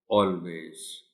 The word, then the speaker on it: always: So you will have to tell the children that the correct pronunciation of the word is always, always.